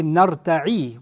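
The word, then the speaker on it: نرتع: But if you say نَرْتَعِ with a kasra, two things change. The ya is pronounced a noon now, and the end has a kasra.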